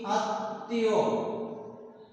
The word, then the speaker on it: আত্মীয়: এখানে ত বর্ণের সাথে ম ফলা যুক্ত আছে, এই জন্য এই ত বর্ণটি দুইবার হবে উচ্চারিত। তাহলে আমরা ওই শব্দটির উচ্চারণ করছি কি আত্মীয়, আত্মীয়। তর সাথে ম ফলা ছিল বলে তটা দুইবার উচ্চারিত হয়েছে।